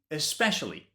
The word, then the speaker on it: especially: Specially with an S, especially with an ES. Specially, especially.